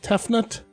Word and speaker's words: Tefnut: mate this is shaking how am i supposed to pronounce tefnut it's like teflon but you know it's almonds so the only ones i